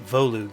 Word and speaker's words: Volug: like tormund lady nyla vollux oh it's they pronounce it voluge in the narration i guess oh do